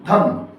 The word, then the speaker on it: धर्म: पढ़ देते हैं धर्म अच्छा रेफ वाले रा की खास पहचान ये होती है कि वो जिस अक्षर पे लगता है उस अक्षर से जस्ट पहले पढ़ा जाता है तुरंत पहले पढ़ा जाता है और आदी आवाज में पढ़ा जाता है और जल्दी पढ़ा जाता है जैसे य मापी लगा तो पढ़ दिया कर्म कर्म जिस पर लगाया